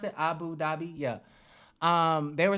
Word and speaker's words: Abu Dhabi: abu dhabi they said is that how you pronounce it abu dhabi yeah um they were saying abu dhabi is like the conservative the most conservative area